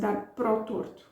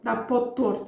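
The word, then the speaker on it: dar para o torto: And we have dar para o, and I pronounce it dar pro torto. We combine that, of course, informally. If I would be reading the news, this is not how I would pronounce it. Dar pro torto, dar po torto, even I could say.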